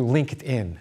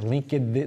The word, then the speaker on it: LinkedIn: me an invitation to link it in link it in how do you say that LinkedIn LinkedIn how do you say that oh thank you happy birthday to you again how old 44.